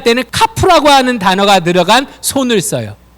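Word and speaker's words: כף: 카프라는 단어예요. 카프. 카프는요. 이렇게 쓰시면 돼요. C 거꾸로. 카프. 카프는 C를 이렇게 거꾸로 쓰고 키역 발음이 나요.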